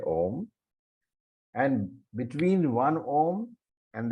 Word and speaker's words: om: syllables a Uma so while pronouncing of course you don't say that you say om and between one ohm